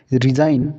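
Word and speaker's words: resign: रिजाइन रिजाइन में जी silent रहा है।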